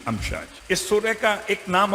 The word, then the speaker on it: امشاج: خلقنا الانسان من نطفۃ امشاج، الف میم شین الف جیم، امشاج سورہ کا نام بھی